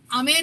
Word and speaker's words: आमेर: आमेर है सर, आमेर, वो जयपुर आमिर वाला फोर्ट।